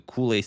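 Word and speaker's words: Colle: kohi system or the Koolie system. Some call it with the French like the Kool-Aid system, but as he was Belgian, the cola system I believe is the proper way to pronounce it.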